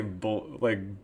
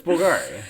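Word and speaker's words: Bvlgari: You can't say Bulgari. It's Bulgari.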